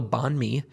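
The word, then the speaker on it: bánh mì: So things like pickled veg and anxious, you know, anxious meat and it's it's it's an incredible sandwich called a bonme. I think it is spelled B A H N M I.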